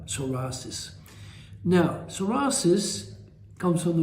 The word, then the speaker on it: psoriasis: types of psorasis first of all let's spell it the name properly psorasis PSO I I CS I right soris now soris comes from the word SOA which